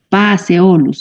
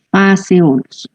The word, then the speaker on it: Phaseolus: Y otro caso es la combinación pH, que no se la pronuncia como pH, sino como F. Entonces aquí vemos la P y la H, pero no decimos Phaseolus, sino Phaseolus, ¿sí?